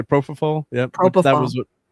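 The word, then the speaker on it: propofol: Prof., How do you say propall?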